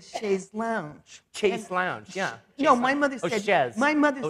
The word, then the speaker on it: chaise longue: I say chaise longue. You know, it's very hard. My mother always said chaise lounge.